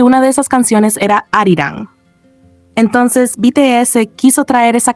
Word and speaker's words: Arirang: No es Aaron, es arirang.